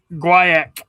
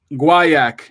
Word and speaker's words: Guaiac: Mick, let me know if you know how to pronounce this wood. Let me show you what it is. Guaiac. Yep. Guaiac.